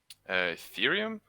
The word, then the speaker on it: Ethereum: How do you pronounce that? Ethereum.